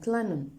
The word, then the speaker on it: Klingon: Now, the G is silent, Klingon.